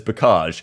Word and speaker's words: Bocage: point, I believe, on Bocage. Some people saying Bocage. Of course, we looked at it yesterday. I looked it up on Google, and Google British pronunciation says Bocage.